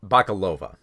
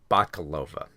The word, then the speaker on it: Bakalova: mispronounce her name it's it's Maria um uh bakalova bakalova I just I mispronounce her name every time all right so